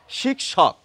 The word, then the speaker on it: শিক্ষক: শিক্ষা ক এবং মূর্ধন সকে খুঁজে পাওয়া যায় শিক্ষক অর্থাৎ হিন্দিতে ক এবং মূর্ধন স এর উচ্চারণ রক্ষিত হয় বাংলায় হয় না এখন তাহলে